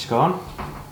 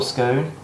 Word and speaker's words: scone: got enough for each scone or scone. It depends which part of the country you're from, whether you pronounce it scone or scone. I think northerners it's a scone, southerners it's a scone.